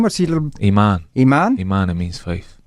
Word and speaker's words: Imaan: Iman. Iman? Iman, it means faith. Faith, and how do we spell that?